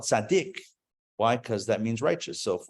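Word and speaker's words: צדי: know lasers um uh some people will pronounce this letter Sadi and not go Sadiq really yeah some claim that the original name of the letter is Sadi but we call it Sadiq why because that means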